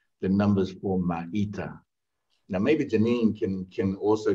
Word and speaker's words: Maita: Am I saying it right, Matea? Maita.